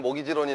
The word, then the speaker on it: mortgage: 이건 뭐냐면 mortgage. T가 묵음이에요. T가. 알겠죠?